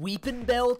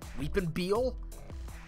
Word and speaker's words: Weepinbell: Like, Weepinbell is you literally just say its name phonetically. There's nothing you could do wrong with Weepinbell. Weepinbell? Like, I don't know. Weepinbeel? At that point, you're just not reading the letters in the name.